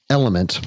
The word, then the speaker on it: LMNT: the newest sponsor um element but it's it's lmnt is how they how they spell it and it's a rehydration